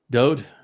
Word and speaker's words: Dowd: And the Wah is a vowel and is pronounced as the O sound.